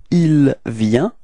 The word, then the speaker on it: il vient: So the masculine form, it's il vient. Repeat. Il vient. Okay. Final T is not pronounced, so you get the same form as for je and tu.